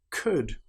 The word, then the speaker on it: could: Another time when the letter L is not pronounced is when we have the letters U, L, D. For example, the word would, could, should. In these cases, again, the L is completely silent.